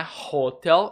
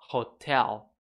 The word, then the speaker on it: hotel: hotel também às vezes essa palavra é meio mal pronunciada por alunos não é hostel e sim hotel faz o arranhadinho do H ou E a sílaba tônica a segunda Rosen o verbo acampar